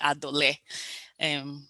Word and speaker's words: Adole: get the pronunciation of my surname very well. It's actually Adole. My husband's from Benue State, so and Isidoma, so that's why it's pronounced that way.